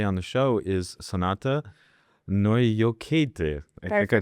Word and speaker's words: Naujokaitė: Joining me today on the show is Sonata Noyoket. I think I pronounced that correctly, right?